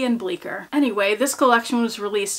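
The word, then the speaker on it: Bleecker: number five is the bleer collection let me tell you how this is spelled cuz I didn't realize there's a c in it it's b e c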